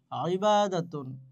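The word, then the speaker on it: عبادة: ইবাদতের উচ্চারণ কিভাবে হয়? ইবাদাতুন, ইবাদাতুন, ইবাদাতুন অর্থ কি?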